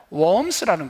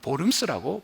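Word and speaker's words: Worms: 루터는 이제 95개 조항 때문에 그는 어디로 끌려갔냐면, 재판을 받으러 어디로 왔냐면 웜스라는 곳으로 잡혀옵니다. 독일 발음으로는 보름스라고 발음을 합니다.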